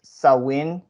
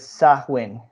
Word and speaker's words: Samhain: and I found out there were two ways of saying it like one is sawwin and the other is sakwin and I'm not really